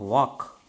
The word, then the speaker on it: walk: Okay, for example, if I ask you to write the spelling of walk, W-A-K, actually you have to write, but we write W-A-L-K.